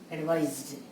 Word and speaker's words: advise: When we are using it as a verb, it becomes S, advised. Difference in pronunciations also. This is advice. This is advise.